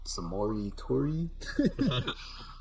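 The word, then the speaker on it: Samori Toure: Yeah, so I was like possibly because there's the hidden gem that was Samori Tori. That's how you say his name for Nebraska.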